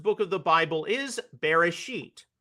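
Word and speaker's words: Bereshit: The Hebrew title of the first book of the Bible is Beresit, pronounced beracatious in the Ashkanazic tradition uh where the final to or the final T is often pronounced as an S.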